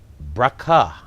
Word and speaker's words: Brakha: have with us in a liquid studio bracha yes that's for having me yeah that's how we pronounce it yes good so bracha is